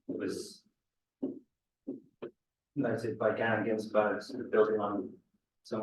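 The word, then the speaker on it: Ginzburg: So, is it Ginsberg? Am I pronouncing it wrong? Well, it's an eel. URG. So URG. Victor Ginsberg, yes. Yeah, that's right. No. Have you got a Ginsberg as well?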